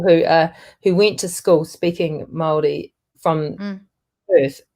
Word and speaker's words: Māori: It's so like Māori, not Maori.